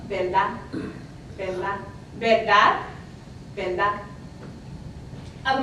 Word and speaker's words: verdad: Also, we see the R sometimes pronounced as an L. So, verdad, I'm exaggerating a little, verdad, truth, would sound more like verdad, verdad.